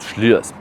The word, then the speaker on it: Slyrs: You spell it Slyrs, but it's called Slyrs.